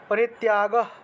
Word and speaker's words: পরিত্যাগ: মোহা महत्तस्य परित्याग त्याग परित्याग পরিত্যাগ পরিত্যাগ উচ্চারণ করলাম, কারণ দন্তের শয়তয় আছে। দন্তের শটাকে ভেঙে হ হিসেবে উচ্চারণ করলাম, আর যে তটা রয়ে গেল সেটা আলাদা করে উচ্চারণ করলাম।